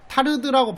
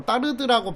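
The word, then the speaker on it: Tarde: 바로 따르드의 모방 이론이에요 그래서이 타르드라고 발음하기도 하고 따르드라고 발음하기도 하는데 이것은 이제이 앞으로 3편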